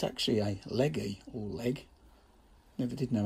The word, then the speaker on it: Legge: It's actually a Legge or Leg. Never did know how to pronounce it. I'll call them Legge, but I think you can call it Leg.